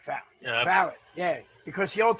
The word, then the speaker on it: valet: And so if folks look at that and think that's not the pronunciation, it is the pronunciation, valet.